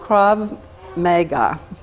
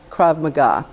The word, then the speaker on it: Krav Maga: classes they Zumba lessons and one month of Krav Mega and I know I just probably how do